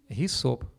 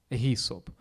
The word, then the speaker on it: гісоп: стоїть такий цікавий знак тому що в Україні зазвичай цей знак вимовляли як г тому що українською мову є лікарська рослина вона називається гісоп гісоп і в Україні так читалось і коли перед перед